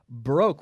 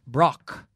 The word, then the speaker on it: broke: pronunciation so we have broke we don't say Brock but we say broke oh oh broke like